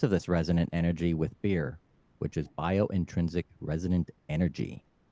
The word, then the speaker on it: B.I.R.E.: But as far as B.I.R.E, as far as B.I.R.E, biointrinsic energy, biointrinsic resonant energy.